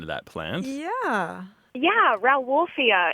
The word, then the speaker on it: Rauwolfia: Yeah, Rauwolfia. It's spelled R-O-W and then like wolf and then I-A.